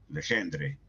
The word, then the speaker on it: Legendre: Legendre, creo que se debe pronunciar.